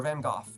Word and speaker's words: Van Gogh: what artist is this byy van go or van goof depending on what country you're in and how you say it how much does